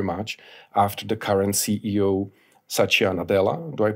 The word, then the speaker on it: Satya Nadella: Microsoft changed very much after the current CEO Satya Nadella do I pronounce it well that's right yeah after he